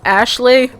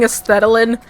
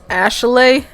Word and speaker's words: Aeshleigh: I think her name is Aeshleigh. I was saying Aesthetilin for the last one, but like I don't know why I read that as Aesthetilin, but I'm pretty sure her name is Aeshleigh.